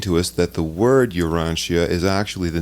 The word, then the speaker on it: Urantia: book for those of you who are listening urantia is spelled u-r-a-n-t-i-a and those of you who may